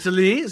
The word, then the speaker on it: Talese: Yeah, Talese.